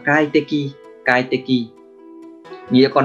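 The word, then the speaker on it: 快適: Và cách đọc của nó là kai te ki, kai te ki.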